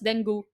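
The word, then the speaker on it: dengue: got bit I got Deni and I don't know in other countries it's pronounced as denu but for us it's Deni so I don't know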